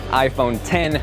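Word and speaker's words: iPhone X: is spelled out i phone act the correct pronunciation just like final cut just like logic is iPhone 10 the number now this was the first Apple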